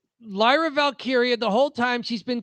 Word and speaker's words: Valkyria: Lyra yes, Valkyria. There's two Y's. One is pronounced like an I. The next one's pronounced like an E.